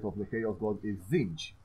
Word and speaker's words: Tzeentch: And the final, my personal favorite of the Chaos God, is Tzeentch. It's spelled Tzeench.